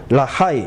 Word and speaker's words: 라하이: 브엘 라헤 라헤 로이 발음이 이상하게 되어 있는데 베에르 우물이다. 라하이 살아있는 살아계시는 로이 보시는 하나님이다 이 말이에요.